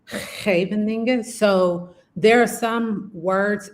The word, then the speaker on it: Scheveningen: And I just struggle with the SCH in Dutch. So Uh-huh. I just say Scheveningen, but it should be like Scheveningen.